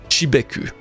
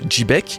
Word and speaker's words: Xebec: Ensuite, en japonais, Rox dit Xebec, donc se prononce Chibeku. Et dans l'épisode 958, en VF, Sengoku prononce également le prénom de Rox avec un J, ce qui donne quelque chose comme Jibek. Et Rox dit Chebek. Donc oui, vous avez raison, je le prononce peut-être pas très bien en l'appelant Chebek, c'est plus Jibek, mais c'est toujours plus